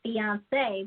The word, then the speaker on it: fiancé: So in French, the E is pronounced A only if it has that accent mark on it, kind of like the word fiancé. So fiancé is a French word that we borrowed in English, and it's pronounced fiancé because of that accent mark on the E.